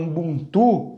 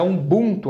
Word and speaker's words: Ubuntu: é a palavra umbuntu algumas pessoas falam Ubuntu mas é um bunto a pronúncia dela essa palavra uma palavra